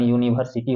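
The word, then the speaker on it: university: यूनिवर्सिटी मतलब यू है, लिखने में प्रयोग हुआ है यू वॉवेल से, लेकिन इसका उच्चारण यूनिवर्सिटी होता है यानी कि य से होता है, जो एक कॉन्सोनेंट साउंड है।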